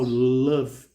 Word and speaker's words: love: Repara aqui que esse E final, love, ele não é pronunciado.